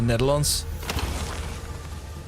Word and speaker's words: Netherlands: You keep nailing the pronunciation of Netherlands. Uh, but you mean the country as a noun. It doesn't end Netherland. Oh, okay.